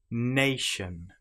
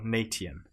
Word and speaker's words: nation: You will notice that the ti here is pronounced exactly the same as the sh sound. But of course, if you don't know this, you may say notion or natian.